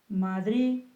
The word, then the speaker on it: Madrid: e se o dar Madrid porque lá de final aí que ser pronunciada e lá de quando